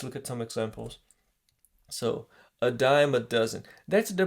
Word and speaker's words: a dime a dozen: confusing but let's look at some examples so a dime a dozen that's the pronunciation okay guys a diamond doesn't don't separate don't don't read a dime a